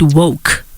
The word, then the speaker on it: W.O.C.E: and how I say it I call it woke okay okay so the acronym of I pronounce pronounce them as woke and what inspired